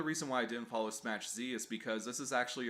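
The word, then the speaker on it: Smach Z: of that i know the correct way to say it is smash z not smash zed thanks to the support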